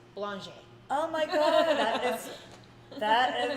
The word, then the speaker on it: Belanger: how to say it imagine you're a blonde with a j on the end state real fast blanche oh my god that